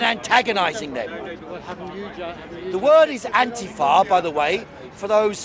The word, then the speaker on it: Antifa: Antifa, that's what it is, not Antifa. Antifa. And Antifa, fa is for fascismus.